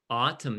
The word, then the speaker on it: autumn: autumn very good okay which letter is not pronounced um do you autumn no it's pronounced at the end yeah very good number